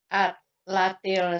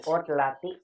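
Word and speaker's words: عطلة: Aina turidu an tadhhaba fi atlatil soifi. Fi utlati. Karena ada fi kasrah.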